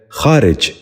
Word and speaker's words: خارج: دوسرا لفظ ہے خارج۔ یہ غلط تلفظ ہے، درست تلفظ ہے خارج۔ دوبارہ غور سے سنیے،